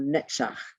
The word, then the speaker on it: Netzach: The next circle is called Netzach, N-E-T-Z-A-C-H.